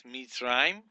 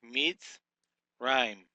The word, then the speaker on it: Mitzrayim: Number 17 here we have is Mitzrayim. We would break this syllable as a mem hirik with a sade